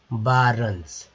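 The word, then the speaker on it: barons: देखिए ओ है, ओ का मतलब ये नहीं होता है कि ओ ही उच्चारण होगा, ओ का उच्चारण यहाँ पर आ के तरह हुआ है, तो बा, अब ये ए का उच्चारण जो है आ के तरह हुआ है। ठीक है, तो बा भी है, बा, आर र और NS तो है वारंस, यानी कि भूमिपति।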